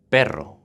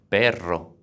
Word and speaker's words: perro: Perro, dog, double R, rolling the R. Perro.